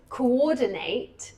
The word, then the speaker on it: coordinate: Because it depends on where the the word if it's coordinate. No, it's still on the second still on the second um the second syllable.